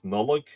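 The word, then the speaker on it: Nodlaig: Also, notlac, N-O-T-L-A-C, the modern version of that is nullig, N-O-D-L-A-I-G, Christmas, from Latin natalitia, a birthday feast, and Cóisc, Easter, from Pascha, as in Paschal.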